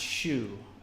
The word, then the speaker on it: SYU: I can drop them I think it's pronounced shoe okay cool all right